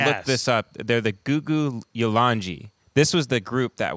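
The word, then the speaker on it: Gugu Yalanji: So the remember how he told us the K's are pronounced with a G? So I looked this up. They're the Gugu Yolanji.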